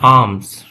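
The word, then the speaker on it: alms: की किसके लिए और आम ठीक है यहां पे ल साइलेंट होगा आंसर होता है दान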